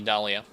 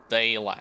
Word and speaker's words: Dayla: And I shall go yet again to the Dahlia. Dayla, excuse me. Pronounce her name incorrectly.